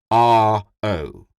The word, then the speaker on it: Ro: named from the juices is pronounced madame r-o Madam Ro she repeated softly no